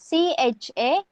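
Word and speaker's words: चाळीस: You have to pronounce it like CHALIS 40.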